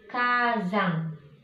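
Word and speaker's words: 火山: Nah, ini spesial penyebutannya. Gunung berapi itu bahasa Jepangnya Kazang.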